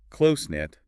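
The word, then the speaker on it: close-knit: word we discussed with close knit the emphasis is on the first part close close knit that's right close knit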